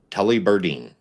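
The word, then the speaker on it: Tullibardine: It is actually, and I had to look up the pronunciation of this so that I got it right. Tully Berdine.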